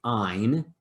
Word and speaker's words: yne: gets switched to yne which is pronounced like a long i ein and so this indicates